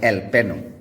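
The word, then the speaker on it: jalapeño: जे में आपके सामने दो वर्ड्स हैं इंग्लिश में जहाँ पर जे साइलेंट हो जाता है। एक है आपका मैरिजुआना और दूसरा है एल पेनो, जहाँ पर जे आपका साइलेंट हुआ करता है।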